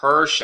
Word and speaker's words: Hirsch: your time today and it's been m hirs am I pronouncing that right yes h i r s